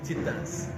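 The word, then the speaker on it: Titãs: Yeah, and this Titans actually were pronounced Titans.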